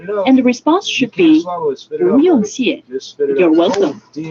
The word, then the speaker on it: 不: And the response should be 不用谢 You're welcome. 不用谢 Yes, you can get the pronunciation of 不 by deleting the sh from the English word bush, B-U-S-H, and then you